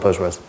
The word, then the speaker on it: PostgreSQL: it's just quite ambiguous nobody knows how to pronounce it um so everyone just calls it postgres um otherwise that's of